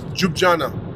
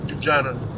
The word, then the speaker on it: Ljubljana: You know, we are in the city of Ljubljana. All right, you know, it's spelled very differently. Ljubljana, Ljubljana.